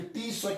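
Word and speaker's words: Tswett: इट is most advance technique developed by, important है, developed by scientist है टी स्वेट। आप टी को silent भी कर सकते हो, सिर्फ स्वेट बोल सकते हो, या फिर टी स्वेट भी बोल सकते हो।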